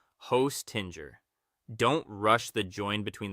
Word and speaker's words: Hostinger: You want jer, not gur, and not ger. Imagine the J sliding softly into that comfy Let's put it all together. Hostinger. Aim for an even, natural rhythm with a little more weight on the first part.